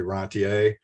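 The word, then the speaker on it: rentier: from entrepreneurship to rentirship I'm not sure if you should pronounce that rentership I think the French word is actually rantier but the key the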